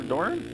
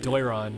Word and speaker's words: Doiron: How do you say that name? Trevor Doran? Doiron, yeah.